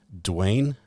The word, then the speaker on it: Dwayne: How do you pronounce your first and last name? Dwayne.